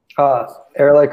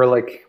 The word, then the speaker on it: Ehrlich: Ehrlich or Ehrlich, both are... good Americanized versions of a German yeah. word that none of us can pronounce.